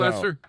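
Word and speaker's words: Loesser: Oh, is it Frank So, Lesser? The Broadway show? Yep, songwriter was Frank. Is that how you Go pronounce Bob. his name? Lesser, Yes.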